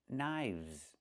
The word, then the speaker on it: knives: One knife, two knives. Again, with the v sound plus the z sound like in zebra. Knives.